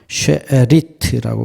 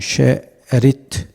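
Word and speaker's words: שארית: 근데 여성 명사가 되면은 예 발음이 바뀝니다 쉐리트고 바뀌어요 이거는 남성이고 여성은 쉐리트 이건 여성 명사입니다 똑같죠 예 뜻이 남은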